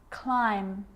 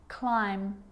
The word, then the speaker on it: climb: with the letter B it's always silent when it follows the letter M climb Krum lamb dum-dum and